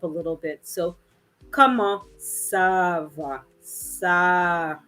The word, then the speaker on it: ça: So that little accent under the C tells us that this word is going to be pronounced more like an S, okay, than a C, which tends to be like a K, more hard, right? So it's telling us soften it up a little bit, right?